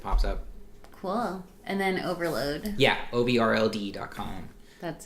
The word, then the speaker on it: OVRLD: first things that pops up well and then overload yeah Obi rld calm that's it mm-hmm and everyone always pronounced is that at some other weird thing